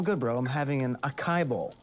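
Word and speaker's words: açaí: I'm having an acai bowl. It's actually pronounced acai.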